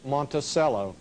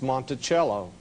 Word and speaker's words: Monticello: A lot of people call the name Monticello. Actually, the correct pronunciation is Monticello. Monticello, two French words.